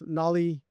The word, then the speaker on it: Knolli: We actually have another product called Nolly. Nolly is the AI orchestration layer.